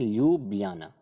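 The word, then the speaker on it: Ljubljana: ल्यूब्लियाना, इसको बोलते हैं ल्यूब्लियाना। यहाँ पर जे जैसा आपको दिख रहा है, लेकिन इसका प्रोनाउंसिएशन जो है ल्यूब्लियाना ही पढ़ा जाता है।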